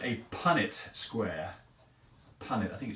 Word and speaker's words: Punnett square: The only critique I have is the correct pronunciation is Punnett Square.